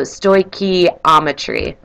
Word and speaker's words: stoichiometry: So the term stoichiometry is Greek for measuring elements, and this gives you sort of how to pronounce it. So stoichiometry.